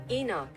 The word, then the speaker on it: Enoch: Pronunciation in English. Enoch.